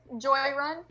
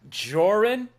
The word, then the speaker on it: Joran: Joy. Is that how you say it? Joy. I love I love how that sounds in your accent. Very cool. Uh, I go with Joran.